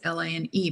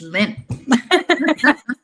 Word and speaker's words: Line: Um just put L I N if I pronounce like it's French name we it's L I N E but that reads like line but it's Lynn. No line.